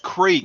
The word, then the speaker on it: creek: He's like, "No, y'all said crick. It's pronounced creek. There's 2 E's in it, dumbass." I'm like, "And you are correcting me on my English."